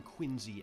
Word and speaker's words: Quincy: hard to find that brings us to John Quincy Adams yes spelled q-u-i-n-c-y but pronounced Quincy and his successor Andrew Jackson both